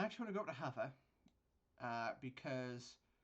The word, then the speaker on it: Havre: want to go to hover uh because that is by the way how you pronounce it hover not harford a half we're going to